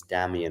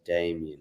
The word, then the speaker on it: Damian: The Polish pronunciation is Damian as opposed to Damien, right?